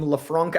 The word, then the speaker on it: LeFranc: Um, I agree and I and I get that, but I think like I I love Lauren Leafrank. That was I was trying to remember her last name. Lefranc.